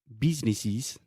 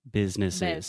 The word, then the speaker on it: business: lot of problems but you cannot say businesses businesses I hear that all the time yeah business businesses business yeah you're not a business it's business perfect and trip trip perfect